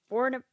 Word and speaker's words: Bournemouth: And then speaking of the FA Cup, so there was one match from AFC Bournemouth. Is that how you say it? Bournemouth, yeah.